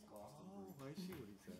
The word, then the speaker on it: Glastonbury: You mispronounced it. It's Glastonbury.